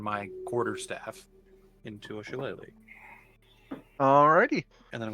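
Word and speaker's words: shillelagh: that how it's pronounced chele yep it's pronounced chele because the chal is a type of Club made by the Irish so I'm going to turn my Quarter Staff into a shalele all righty and then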